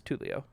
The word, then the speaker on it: Tulio: He was officially Tulio. cohort. Yeah, I Tulio. had leadership T-O-O-L. indeed in 3.5, so he Leo. was my cohort. No. No, it is Tulio.